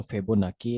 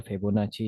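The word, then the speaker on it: Fibonacci: इसकी प्रोनाउंसिएशन जो है, या तो फिबोनाकी है या फिबोनाची है, ठीक है। जो जिसको पसंद हो वो बंदा बोल ले, कोई मसला कोई परेशानी नहीं है, ठीक है।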